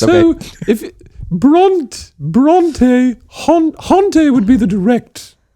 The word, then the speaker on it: Hauntë: So, I just I'm called Haunt because it rhymes with Bronte.